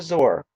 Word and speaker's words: Zoar: the land of Egypt, till you come to Zor, and that's spelled Zoar.